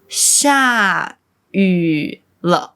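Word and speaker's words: 下雨了: It's just one sound. ü So, it's xià yǔ le not xià yǔ le. It's xià yǔ le. Remember, just one sound, yǔ.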